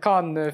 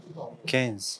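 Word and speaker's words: Cannes: द कान film festival, C A double N ई एस. कैन नहीं, एस नहीं बोला जाता ना. कैन्स, बिल्कुल नहीं, कैन, कैन, कैन film festival, you know.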